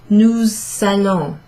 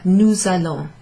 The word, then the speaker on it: nous allons: It's sort of, it sounds a bit like a Z actually. Nous allons. It's almost like that's one word together. Nous allons.